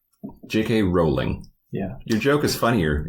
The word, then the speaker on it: Rowling: It took me a bit to research this, but JK's last name rhymes with bowling and not howling. J.K. Rowling.